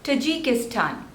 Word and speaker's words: Tajikistan: Syria Syria next is Tajikistan Tajikistan there are Force labels and the stress is on the last one Stan Tajikistan Tajikistan Tajikistan Tajikistan